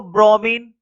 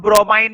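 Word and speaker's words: bromine: Coma लगा के एक और लिखो, लिखो ब्रोमीन। इसको कुछ लोग ब्रोमाइन भी पढ़ते हैं, ठीक है, तो ब्रोमाइन पढ़ लो, बस स्पेलिंग सही होनी चाहिए, वैसे तो मैंने सिंबल लिखा है।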